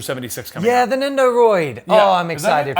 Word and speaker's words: Nendoroid: Yeah, the Nendoroid. Yeah. Oh, I'm excited for I always that. call it, Nendo Droid. Yeah, I've always called them Nendroids.